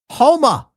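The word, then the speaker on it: Houma: It's pronounced Homa.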